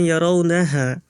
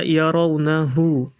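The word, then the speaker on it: يَرَوْنَهُ: yaitu di surah ee harakat di surah Alma'arij ayat 6 yang tadi anggun bacanya yaraunaha harusnya itu dibaca yaraunahu mungkin terlalu cepat karena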